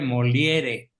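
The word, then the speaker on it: Molière: No, no se escribe molier, se escribe moliere. Pati, como es francés, la re final no se pronuncia, es molier.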